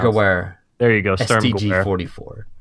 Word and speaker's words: Sturmgewehr: Sturmgewehr, or I have no idea how to pronounce it. Sturmgewehr.